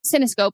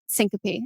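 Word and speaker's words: syncope: had like a vasovagal I said ccope and I said is that right and he goes no Syncopy and I was like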